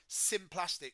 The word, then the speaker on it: symplastic: So I think phonetically the symplastic pathway, which is spelled SYMPLAST, symplastic, sounds like cytoplasm.